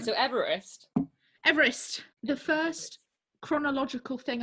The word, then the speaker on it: Everest: men to adventure to everest he actually pronounced his name eve rest not everest so you know first